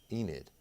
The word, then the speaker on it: Enid: what's her name Arian deil to get the pronunciation of that Oklahoma town I got it Enid no worries Ariana or Jeremy Baker he does